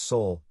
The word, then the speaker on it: Soule: Silas Soule, pronounced Soule, was one of those people for whom the passage of time has not been kind.